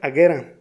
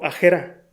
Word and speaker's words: Agera: Luego de unos minutos de búsqueda te das cuenta que no se pronuncia Agera, tampoco Agera. Queda como Agera.